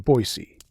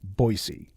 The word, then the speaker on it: Boise: his supposed hometown's name he called it Boise not boisey that didn't sit well